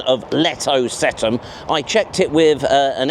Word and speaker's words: Letocetum: Oh, and I'm 100% confident about that pronunciation of Letocetum.